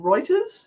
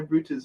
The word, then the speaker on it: Reuters: there's an article from reuters did i say it right this time because i normally say rooters like in trouble uh in 1999 the